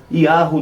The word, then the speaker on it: Yahu: Assim, um outro detalhe, aqui a pronúncia Yahu, tem aqui, notem um acento circunflexo, Yahu, não é? E dá uma extensãozinha, não é? Yahu.